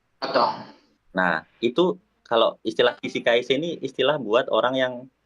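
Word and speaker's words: 起死回生: Ini bacanya Kishikaise, artinya Kishikaise itu hidup kembali, kalimat kiasan, quotes kiasan dari hidup kembali setelah mati.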